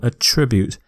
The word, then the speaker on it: attribute: It's a verb, so I'm going to stress the second syllable, attribute, not attribute. Attribute is a noun. Attribute is a verb.